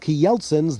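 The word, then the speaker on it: Kjeldsens: s e n s k yeltsin's that's the way you pronounce it the way the danes do key yeltsin's the best butter cookies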